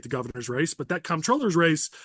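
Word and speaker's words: comptroller: The real way to say it is controller, but everyone's used to comproller.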